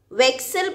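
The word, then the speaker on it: Wechsel: children vic cell preposition the pronunciation of excel is like your english word i'm just talking about pronunciation wake cell this way you need to pronounce it vexil preposition children in english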